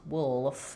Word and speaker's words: wolf: So it's definitely not going to be wolf, wolf. You don't want to have anything between the and the wolf.